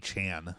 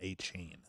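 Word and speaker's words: Achane: like Devon Anan apparently he said that everybody was saying his name wrong it's aan not a Chan yeah um seemingly taking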